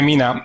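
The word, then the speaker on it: Meena: new chatbot from Google, Mena, how do you pronounce it? Yeah, it's Mina. I had problems, the same problem. Yeah, Mina.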